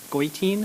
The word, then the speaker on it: Goitein: And next to me here is Liza Goitein, if I pronounce that correctly. Liza Goitein. Oh, I got the Goitein right, but the Liza wrong.